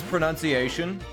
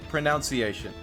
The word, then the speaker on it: pronunciation: One of the most mispronounced words is pronunciation. Is that not just sad? That's irony, right? At its best. Because a lot of people say pronunciation. But it's supposed to be pronunciation.